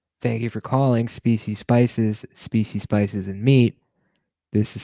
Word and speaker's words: Speecy: Speecy pronounces the word spicy as he does his own first name, Speecy.